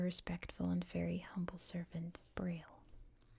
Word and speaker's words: Braille: and very humble servant Braille should probably say in French it's like pu not braille it's how you say it in English but anyway a moment